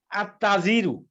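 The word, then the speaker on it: التاجر: এটাকে যদি নির্দিষ্ট করতে যাই তখন কি হয় দেখেন, আত্তাজিরু, তখন আলিফ লাম যখন বসাবো তখন আলিফ লামের উচ্চারণ হবে না।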